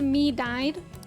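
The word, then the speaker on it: Medjed: on magid's website um it's pronounced me died to the Phantom thieves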